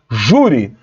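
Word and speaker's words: júri: Juri também está errado a sílaba T de juri é Ju então o acento tem que estar no u Jure então também está errado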